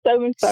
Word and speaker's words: Sow and Serve: It's Sow and Serve. Sow and Serve. I No, was like, like, yeah. Oh, no, no. No, everybody gets that so wrong too.